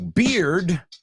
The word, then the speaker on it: beard: Two, beard rhymes with fear.